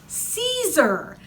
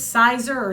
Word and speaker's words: Siser: for notions and it's Caesar you might look at it and think it's sizer sister all these other things that's si ser and it's pronounced Caesar because they're from Italy they've been making vinyls